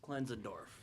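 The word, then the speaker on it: Klenzendorf: yeah definely cleans and dorf that's how it's pronounced cleans andorf yeah like said still if we're butchering that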